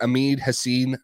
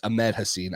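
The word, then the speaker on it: Ahmed Hassanein: the Patriots Edge Defender amid Hassen um sorry it's Amed hassin I use it was like a weird pronunciation um Amed hassin from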